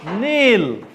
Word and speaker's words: kneel: Kneel. K is silent.